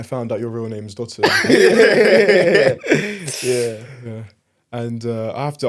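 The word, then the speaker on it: Dotun: But I found out your real name's Dotton.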